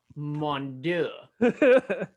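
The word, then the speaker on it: Mondeaux: last name is m-o-n-d-e-a-u-x can you try to pronounce that for me mondew french he's gotta be men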